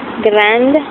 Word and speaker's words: grande: So gran, if you add an E to make feminine, grand, you do pronounce the D.